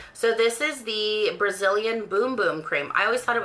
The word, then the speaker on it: Bum Bum: and I actually didn't even know how to pronounce it until recently. So this is the Brazilian Boom Boom cream. I always thought it was Bum Bum.